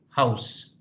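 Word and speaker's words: Haus: sound we have this sound in English word like house ow house so similarly very easily you can pronounce the German words h a u s this is German word house b a u m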